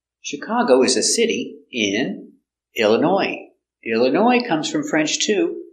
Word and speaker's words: Illinois: is a city in Illinois Illinois comes from French too so we have a silent s in French words they have S at the end it's silent so Chicago Illinois not Illinois no s Chicago Illinois do you